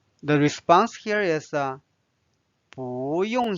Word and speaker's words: 不用: Now let's learn 不用。不用。 Notice that it's pronounced as 不 because of what? Because this is a fourth tone.